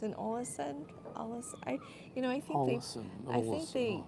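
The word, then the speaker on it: Ålesund: pronounce it somewhere between an O and an A. I just don't know their language well enough to do it. Yeah, Olesund and Alesund, kind of in the middle.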